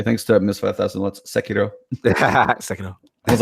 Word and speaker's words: Sekiro: Let's Sekiro.